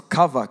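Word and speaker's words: qavah: the word waiting is a Hebrew word that is pronounced as kava.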